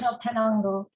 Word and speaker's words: Quetzaltenango: Could you pronounce that for us, Rachel? Sorry. What comes? Quetzaltenango.